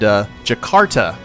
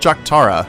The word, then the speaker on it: Jakarta: near Caesar Augusta and Jakarta, not Jaktara. I don't know why I was calling it Jaktara. That's a cool name, but someone let me know that I was pronouncing it wrong, and I do appreciate that.